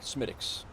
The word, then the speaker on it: Smithwick: and I do like smiix uh Smithwick as uh as it's spelled but we are going